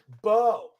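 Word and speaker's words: Beau: Bo. That's spelled B-E-A-U, by the way.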